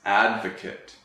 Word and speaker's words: advocate: It's not advocate, it's advocate. Advocate.